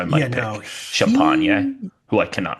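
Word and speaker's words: Champagnie: He just had he's This says Champagny according to Yeah, it is Basketball Champagne. Reference. It is Champagne. Champagny. That's how you say it.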